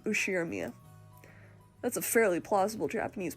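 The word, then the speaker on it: Ushiromiya: is one of my cousins his name is pronounced usher mia george he's five years older than me so he must be turning 23 this year since the oshirmia cousins consist of two boys and two girls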